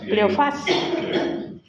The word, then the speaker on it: Cleofás: El uno dice que se llama Cleofas, así se pronuncia, Cleofas, y dice que otro, pues a ese otro vamos a colocar nuestro nombre.